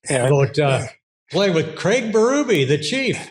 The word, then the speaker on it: Berube: and his family the B everybody they're they pronounce it baru now but everybody called him BBY back home Craig BBY and his father Roger